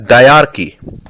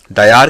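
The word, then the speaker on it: Dyarchy: also famous known as डार्की डयार की spelling is डी वाई ए आर सी एच वाई I repeat D वाई ए आर सी एच वाई इट वाज अ Greek term which meant double rule this experiment of डार्की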